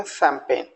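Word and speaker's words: champagne: और इसको बोलेंगे कैंपेन अगला वर्ड है ट इ य अगेन य सी जी को मैंने साइलेंट रखा तो उसको बोल सैंपेन यस सपन अब आप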